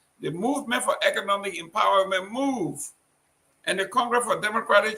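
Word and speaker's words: MOVEE: Is that movie or move? M-O-V-E-E. That is a political party. How you pronounce it? Move.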